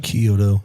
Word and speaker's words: Chiodo: Chiodo.